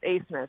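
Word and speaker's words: Abmas: Well, they have two studs on their team, Max Asmus, and it is pronounced Asmus.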